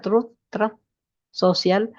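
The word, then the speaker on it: Truth Social: escribió en su plataforma truz social así se pronuncia TR Social es increíble que un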